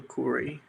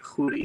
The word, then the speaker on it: Khoury: my name is Corey it's Arabic say hoodie do you want to